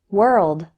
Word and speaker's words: world: The letter O in these words isn't pronounced like O. Instead, WOR sounds like were. Let's practice. Word, work, worse, world.